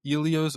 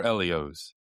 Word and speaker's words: Ellio's: talk about the company, Helios? Yeah, this has been around since 1963. Uh, Long Island Company. Uh, did you know, Max, that it could actually be pronounced Elios or Elios?